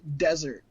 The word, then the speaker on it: Dessert: It's spelt dessert, but it's pronounced desert.